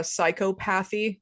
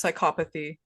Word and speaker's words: psychopathy: But uh but anyway, personal one of mine is uh psychopathy. It's psychopathy.